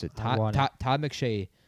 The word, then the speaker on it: Ioane: out of Penn State, which I just pronounced it wrong. Ioane is how you pronounce it. Ioane.